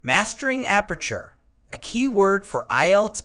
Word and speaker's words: aperture: Word type: aperture is a noun pronounced as ap-er-ture, meaning an aperture is an opening, hole, or gap, typically one that is small or narrow.